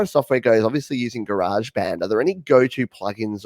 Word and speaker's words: GarageBand: So using GarageBand, as you say, or GarageBand, Patrick will be very happy that you pronounced it correctly, GarageBand.